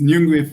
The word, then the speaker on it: Nyungwe: Okay, so today we're going to be talking about Inungwe. Is that how you pronounce it? This is for me. It's perfect. I think it's Nyungwe Forest in Rwanda.